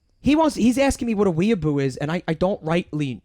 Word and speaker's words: weeaboo: You're saying it wrong, but I'm not going to correct you on the pronunciation because I'm enjoying hearing you mispronounce it. Is it a V or a B? Weeaboo. Weeaboo? Here we go.